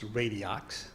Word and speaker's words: Radiox: We are asking for an increase, and the company name is Radiox, is how it's pronounced. I think the X is silent, is for $373,288.